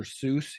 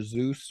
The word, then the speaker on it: Seuss: Seuss. He sort of pronounced it Dr. Zeus when he was a kid, and that kind of stuck with him.